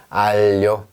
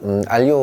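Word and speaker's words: aglio: 알료, 알료. 알료가 이게 마늘이라는 뜻이죠. 알료 올리오가 그거죠. 네. 맞아? 알료 올리오가 그 마늘 오일, 파스타. 그래서 알료. 요게 요겁니다. 그러니까, 우리가 알리오 올리오 파스타를 시킬 때, 지가 묵음이네 이렇게 생각해 주시면 되겠습니다.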